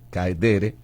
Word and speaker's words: caedere: La palabra sui en latín significa de sí mismo, y la otra palabra es caedere o caedere con acento en la ed, caedere.